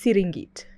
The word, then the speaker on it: Serengeti: They originated from Serengeti, because even Serengeti itself is a Maasai word that means endless plains. It's pronounced Siringit in Maasai.